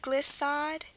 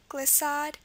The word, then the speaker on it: glissade: We have glissade, act of moving smoothly, glissade, and levade.